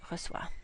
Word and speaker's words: reçoit: This word, and this word are all pronounced the same, reçoit.